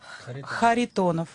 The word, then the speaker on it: Kharitonov: Kharitonov. Okay, and Brett Rogers. That's finally a name we can pronounce.